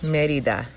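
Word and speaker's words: Mérida: peninsula in merida mexico i'll let her pronounce it accurately merida merida mexico so we've been together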